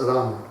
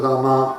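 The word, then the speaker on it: राम: So the accent is on the first Ra. Просто делайте ударение падает на первый слог. Рам. You may pronounce Ram, but not Rama, Rama, Rama.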